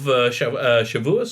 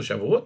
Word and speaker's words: Shavuot: of Passover right up to the holiday of Shavuos or Shavuot, depending on how you want to pronounce it.